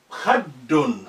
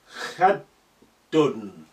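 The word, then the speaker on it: خدٌّ: So when you see that, you need to really reinforce your pronunciation for that dal or any letter with carrying sukun, carrying shadda. Because shadda, you need to be strengthening the letter. Khaddun.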